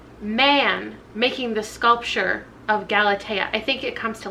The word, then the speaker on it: Galatea: So I'm gonna spend the next, I don't know, half hour reading this, which I now know is pronounced Galatea.